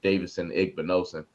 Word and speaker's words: Davidson Igbinosun: night that knew how to say his name, Davidson Igbinosun.